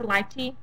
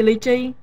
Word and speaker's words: lychee: we love literally yeah people say pronounce live tea but we say lychee that's in vietnamese lychee yeah and that's a coffee